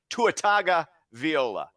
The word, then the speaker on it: Tua Tagovailoa: Once again, Tua Tagovailoa. I pronounced his name right.